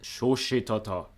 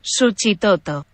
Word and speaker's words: Suchitoto: For the first time, I'm gonna check how it's pronounced. So it's Spanish, I'm pretty sure. That's what they speak there. Suchitoto. That was pretty close.